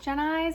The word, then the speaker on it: Gen Eyes: Jen Eyes is pronounced Jen and then eyes.